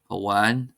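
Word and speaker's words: amháin: As in any language, of course, there are always some exceptions, and here are some common words that are exceptions, that is, they're not stressed on the first syllable.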